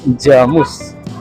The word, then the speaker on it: Jamus: Jamus kalau orang luar kan bacanya Jamus ya. Kalau orang Sragen Karanganyar Jamus. Jadi ada N-nya gitu. Nah ini ya dulu, nah sebelah sini dulu jelek banget sini.